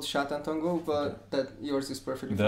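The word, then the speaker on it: Sátántangó: film by Batar called Satan Tango that's not the right pronunciation is it i' I'd say it's called shatan tongo but that yours is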